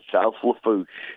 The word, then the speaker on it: South Lafourche: Is it South Lafourche? Is that how you say it, Tommy? That's it, South Lafourche.